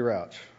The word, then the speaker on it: Rauch: speaker is dr i believe it's rauch roach sorry please correct my pronunciation good afternoon my name is rouch thank you for the